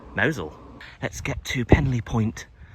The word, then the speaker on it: Mousehole: People who don't know will just pronounce it Mousehole. But that's not the Cornish way. We say Mowzel. Let's get to Penlee Point and where the lifeboat used to be, and then we'll head into Mowzel properly.